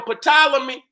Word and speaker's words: Ptolemy: even how you see how they spell potala me they spell it with a P right vol m ey potala me but the P is silent that's English man that's